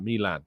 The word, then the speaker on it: Milan: one uh Daniel says why do you pronounce Milan like Milan uh I'm pretty sure that's the correct pronunciation but maybe our Italian listeners can tell them tell me I'm wrong um Arsenal is set